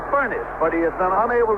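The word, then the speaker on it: Furness: the Pittsburgh Steelers so he pronounces his name furnace but he has been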